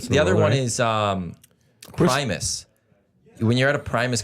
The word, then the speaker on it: Primus: yeah Prim spelling me I thought it was premise no it's Primus primis Primus it's Primus there's no e so it'd be Prim it's Prime us Primus wow did you know